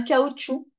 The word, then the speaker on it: cachou: peut être psychologique ça peut être physique un cachou ou on prononce pas le C mais on l'écrit o